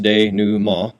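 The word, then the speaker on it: dénouement: that a resolution is also known as the de new ma which is pronounced de new ma and it's a French word that basically means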